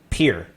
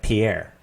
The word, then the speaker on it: Pierre: dakota is called well peer south dakotans know it's called peer but everyone else calls it pierre non-south dakotans sql has